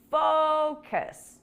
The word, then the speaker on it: focus: try focus and again be careful with the pronunciation here the stress is on the first syllable focus focus on your English